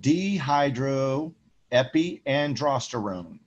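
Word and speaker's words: dehydroepiandrosterone: the reticularis is called dehydro epi androsterone a lot of students hate this name because it's very long but it is spelled exactly how you pronounce it d hydro epi and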